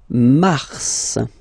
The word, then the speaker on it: mars: it f okay then Mar okay so in a way it's an exception because normally final s is not pronounced in French okay we've got some exceptions and this one is one of them so Mar pronounce the